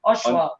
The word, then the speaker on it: Oshawa: So we've got Hollywood, and Hollywood's also from, how do you pronounce it? Oshawa.